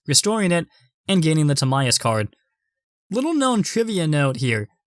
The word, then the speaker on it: Timaeus: such naive seven-year-old me thought it was actually pronounced Timaeus rather than Timaeus so odd but also